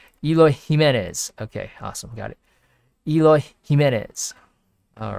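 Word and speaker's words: Jiménez: ximena's okay jimenez jimenez okay awesome got it jimenez all right awesome so i wonder how much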